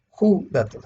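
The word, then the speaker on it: ὕδατος: Judatos, judatos, acento en la U, judatos, ¿sí?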